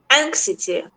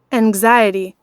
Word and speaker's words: anxiety: The X is often pronounced like a Z especially if it comes after like say a consonant whereas like it sounds more like an X if it comes after a vowel.